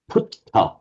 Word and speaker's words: Buddha: The point is the an initial B would the ties would pronounced in their native as a P.